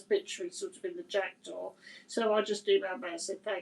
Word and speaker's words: Jackdaw: Yeah, Jackdo. Okay. Oh, Jackdaw. Okay. Like the bird. Like the bird, the jackdaw.